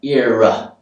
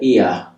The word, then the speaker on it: ear: So the Americans would probably make it sound a bit more like ear, like ear with a r, ear. Whereas the British say ear.